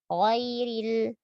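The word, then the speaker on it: غَيْرِ: Tetap sempurnakan fathah walaupun dia tebal, ya. Ghairil. Dan jangan merubahnya menjadi huruf G. Masih ada, ya, ghairil. Nah, biasa kalau baca huruf ghain jadinya G. Atau mengucapkan huruf ghain dengan nafas jadi ghairil.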